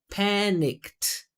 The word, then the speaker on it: panicked: No vibration. It's two syllable two syllables in present, two syllables in past. So it's panicked.